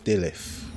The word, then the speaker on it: Delyth: side boss, so the mini boss, Scourged Sister Delyth. That's how you pronounce it.